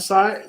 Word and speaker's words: Sai: You know, is your name Sai or? How do you pronounce it? Sai. So I just want to say, I'm proud of you, bro.